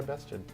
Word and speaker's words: Bested: Why Bested? Because it rhymes with tested.